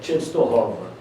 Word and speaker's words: Częstochowa: Ele nasceu numa cidade que se chama Częstochowa. A pronúncia correta é essa.